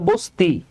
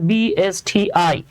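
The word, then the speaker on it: BSTI: এটাকে বলেন না যে সুমন ভাই এটা হলো বস্তি বাবারে এটা তো বস্তি না এটা উচ্চারণ করতে হয় বি এস টি আই মানে যা আছে সেটাকে লেটার বাই লেটার উচ্চারণ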